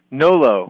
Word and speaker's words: Nolot: your last name Benji no low no low okay yeah silent just like nolo contendere so welcome welcome to